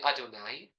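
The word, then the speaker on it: אֲדֹנָי: For purposes of learning, we'll say the way that we generally pronounce it, namely Adonai.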